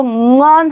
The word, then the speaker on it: ngon: NG가 올바른 발음이 되려면 비음인데요. 얘는 우리말에 없는 자음인데 윗입술과 앞입술이 떨어져서 발음이 돼야 올바른 발음이에요. 내가 만약에 이 발음을 저한테 듣고 멍 그러면 틀린 거죠. 이러면 안 되고, 얘를 발음할 땐 입술을 뜨고 응언 하고 이 음이 구강 안에서 이렇게 울리는 소리가 돼야 되는 거예요.